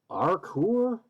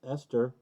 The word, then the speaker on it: ester: names and they're like okay um arkor and then your little kid says uh no that's esther and you're like teacher look esther r-c-o-r oh i get it yes r-c-o-o-r-ester and then they won't